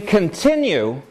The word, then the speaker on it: continue: More than that, though, and this is what I want to direct your attention to, in continue, this last syllable has ya in it.